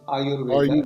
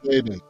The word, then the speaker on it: Ayurveda: So it is a combination of Ayur and Veda. It's Ayurveda. Ayurveda.